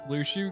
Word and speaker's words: Luxu: mhm also quick aside I really hate the way they pronounce luu's name which luu because it's actually short for luxuria yeah I know it's